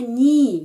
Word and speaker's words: не: Tetapi mayoritasnya ни, ya, ни. Dengar ya. Это не дворец. Kalau это не дворец, susah ya, не, ya, kita harus kasih tenaga ya, не. Karena itu, не, pengucapannya ни. Sering ya, ни.